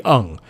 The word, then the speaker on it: Aang: So the proper way of saying Aang is actually Ung, through the perspective of the Asian country, which is the birthplace of the character.